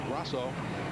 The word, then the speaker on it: Grosso: I think I mispronounced that earlier, but it's Grosso, the car owner for Frank Cozy in 1987.